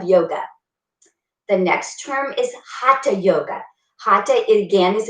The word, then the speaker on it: hatha: dedicated practitioner of yoga the next term is hata yoga hata it again is a sanskrit word and it's spelled h-a-t-h-a and that's the main yoga that we did